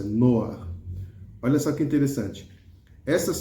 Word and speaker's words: Noach: Noar é o nome de Noé, tá bom? É assim que a pronúncia, Noar.